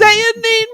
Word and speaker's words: Sehanine: Sayanine Moonbow. Yeah, there you go. Sehanine That's- Moonbow. How I know how to pronounce that name.